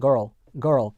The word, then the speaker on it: girl: 예를 들어서 이런 거 미국 영어에서는 girl 이런 식으로 둘 다 하는 반면에 영국 영어에서는 girl 그렇죠? 요거를 발음하지 않는다는 거예요.